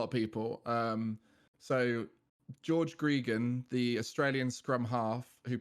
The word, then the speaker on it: Gregan: name so i named my character in game gregan25 because i was like i want to be like that wizard and it kind of just stuck from there but the problem is it stuck as gregan because so many people mispronounced it as greg